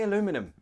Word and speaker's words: aluminum: aluminium they say aluminium both ways are fine American English says aluminium British English aluminium both are correct the only difference is if you want to speak with American English say aluminum if you want to speak with British English its aluminium notice also the spelling